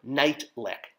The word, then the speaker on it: Neitlich: which was the character night lick nit T Li i k which is how you pronounce my last name my last name being spelled very differently so um yeah it